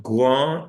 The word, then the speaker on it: grands: Example, ils sont grands et roux. The X is not pronounced, the S is not pronounced.